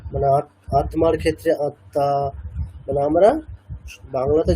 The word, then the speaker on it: আত্মা: যেমন আত্মার ক্ষেত্রে কি বলছি, আত্মা, সেরকম পদ্মের ক্ষেত্রে পদ্ম, মানে দটাকে ডাবল করছি, আত্মার ক্ষেত্রে দটাকে ডাবল করছি।